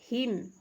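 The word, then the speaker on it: hymn: यहाँ देखिए N silent, हिम, हिम means भजन या स्तुति गीत होता है, इसमें आपका क्या साइलेंट है, एन साइलेंट है।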